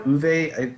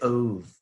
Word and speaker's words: Ove: I know Uve is the correct pronunciation, but every time I say it, I feel pretentious, like it's not. Like, come on, man, you're American. Just say Ove.